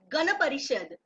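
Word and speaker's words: Gana Parishad: try Miss yes prad H that you are pronouncing uh in mistake repeat after me it's ghap parishad GH parishad Okay g a n a g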